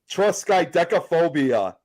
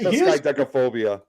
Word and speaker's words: triskaidekaphobia: Triskaidekaphobia.